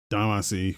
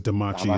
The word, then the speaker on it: Damacy: We also got a trailer for Katamari Damacy, or is it Damachi? I've heard it pronounced both ways. Damacy. Whoever says Damachi is Damacy. wrong.